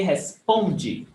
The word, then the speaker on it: responde: Você responde, the stress is on pom, responde. And the other one, eu respondi, the stress is on G.